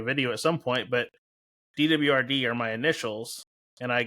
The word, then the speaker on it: DWRD: And I was like, I always just say DWRD because it's my initials, but I've heard dwaret. You know, there's a guy the other day in Arkansas. He's like, I it reads dwarf net to me, you know,